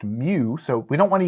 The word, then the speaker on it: mu: little Greek symbol uh Greek letter here is pronounced mu so we don't want to use M because